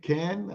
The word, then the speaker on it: Kane: you say his name Ken Ken is that the way you say the name yes hurricane Harry Kane I think he's looking